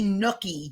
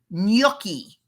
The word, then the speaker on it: gnocchi: It's pronounced gnocchi.